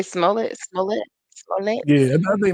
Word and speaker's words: Smollett: It was like Smollier. I forgot what the fuck the real pronunciation. I think it's Smollett or something. But I like the way Dave Chappelle I said. just say Smollett, Smollett, Smollett.